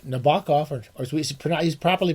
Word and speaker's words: Nabokov: back I' been I always go back to Nabokov Nabbakov or we he's properly pronounced Nabokuki Nabbakov.